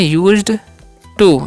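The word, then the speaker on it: used to: ऐसे बोल सकते हैं यूज टू इसे पढ़ते हैं यूज्ड टू यूज टू का मतलब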